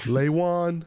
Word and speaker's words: Ieuan: pronounced correctly it works people start going oh is it l and the lion no no no Y and the lion like it Lewan Lean l the lion